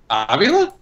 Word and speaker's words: Avila: I'm pretty sure you could say Alex Avila. It depends on where the accent is.